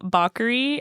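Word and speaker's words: Bakeri: I don't even know if I'm saying it correct. It's spelled B A K E R I. Yeah, bakery. Bakery. If people say bakery, I like to maybe just say baker to act like it's a different word.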